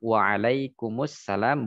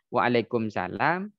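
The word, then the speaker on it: وَعَلَيْكُمُ السَّلَامُ: assalamualaikum maka kita jawabnya waalaikummussalam style aja apa waalaikummussalam bukan Waalaikumsalam bukan eh apalagi enggak tahu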